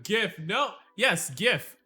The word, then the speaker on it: GIF: pronunciation gift no yes gif it is gif alright not jiff alright this isn't this isn't peanut butter all right it's gif gif gif gif as what it